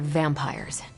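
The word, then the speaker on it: vampyres: The new breed I'm tracking are uh they're vampires. I see. No, I do not. You already said they were vampires. Vampires with a Y, pronounced exactly the same as vampires.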